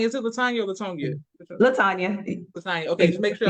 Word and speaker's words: Latonia: Latanya. Latanya. Okay, just make sure I'm pronouncing it correct.